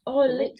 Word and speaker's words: Lindt: You always have Lind, L-I, I don't know how you pronounce it. Lind chocolate. It's the Lindt.